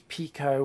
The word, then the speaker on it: Pico: of raster pipe um the actual pronunciation i said is pico which in japanese i think means not like small or tiny and this board is